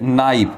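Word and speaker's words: knife: तो रेखा क्या करती है, सब्जियां काटती है, विद नाइफ, के साइलेंट है यहां पे, तो विद नाइफ यानी चाकू से।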